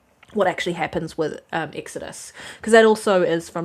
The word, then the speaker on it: Exodus: Um, Exodius, Exodus. Sorry. Sorry, I said it wrong. Exodus. I have um I am